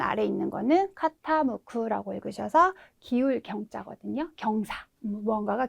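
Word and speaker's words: 傾く: 그래서 덜어내다라고 하는 의미의 제자이고 노조구라고 읽어주시면 되겠습니다. 의미는 빼다 제외하다가 되겠고요. 네, 마지막 여기 맨 아래 있는 거는 카타무쿠라고 읽으셔서 기울 경자거든요.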